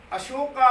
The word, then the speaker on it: अशोक: कहते हैं उन मैं अशोक पाहवा अशोका गार्डन यह शोभा क्या है भाई मैं अशोक शब्द है तो हम अशोक का उच्चारण बिगाड़कर अशोका कर रहे हूं महात्मा बुद्ध ने